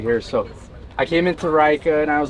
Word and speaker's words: Reika: you pronounce the name so the name is pronounced rika icelandic for rome okay cool r-e-i-k-a all right